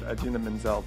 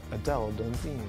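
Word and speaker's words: Idina Menzel: from the Oscars was when John jolta butchered Adena Manzel's name as Adele dine seconds after it happened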